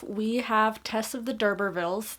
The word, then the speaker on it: d'Urberville: First off, we have Tess of the D'Urbervilles. That is, last I checked, how you pronounce it, D'Urberville, for those of you who are struggling as much as I did.